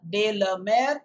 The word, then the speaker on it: de la Mare: silver is written by walter john de la mer remember the pronunciation and pardon if your teacher pronounces it as or something like that it's not murray also remember the rhyme